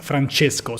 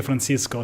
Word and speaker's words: Francesco: we're joking about this my name is francesco so if you won't pronounce that well is it has a c instead of an s but uh it's okay you can also say francisco san francisco france or whatever you want until i understand that